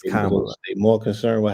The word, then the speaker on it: Kamala: like comma, like Yeah, a comma. So it's Kamala. Kamala, right? Yeah. Yeah. It's Kamala.